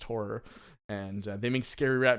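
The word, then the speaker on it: HO99O9: name for ho9 909 stylized but it's pronounced horror and they make scary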